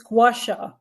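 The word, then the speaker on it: gua sha: How do you pronounce it? It's gasha. Gouasha.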